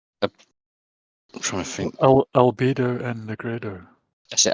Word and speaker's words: Albedo: There's references to I can't pronounce it. Agido and the white and the black. Right. I'm trying to think. Albedo and Negredo. That's it. Albedo.